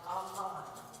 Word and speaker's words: Aman: Okay, so one thing that's important is to know that the word Haman in French is going to be pronounced like Aman, okay? So when I say Aman, that's Haman, okay?